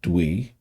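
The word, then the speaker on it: Tui: It's pronounced Dwee.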